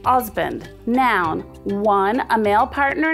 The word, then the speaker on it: Huzband: Husband, pronounced Osband, noun, one, a male partner in a marriage.